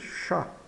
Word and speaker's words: chat: O ch de chat tem som de X como em português e o T final é mudo. Então fica simplesmente chá.